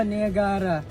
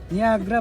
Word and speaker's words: Niagara: niagra eh kasi ganon ang basa nung iba Niagara niagra pala talaga niagra oo kaya yan Gusto niya i-pronounce Okay sige go nag-drive ako ng malayo